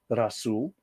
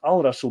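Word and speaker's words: الرسول: And then, of course, the prophet al- Razul is pronounced as Rasool, not Al-Rasool because Rah, don't forget that's an Egyptian god, is a blending sun letter.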